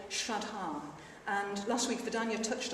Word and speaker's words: shraddha: So a little bit about Shraddha, which is spelled sometimes S-R-A-D-D-H-A, and sometimes it's got an H in there as well, and you generally say Shraddha.